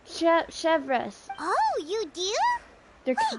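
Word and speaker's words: Chevreuse: Oh, that's how you pronounce her name. Chevres.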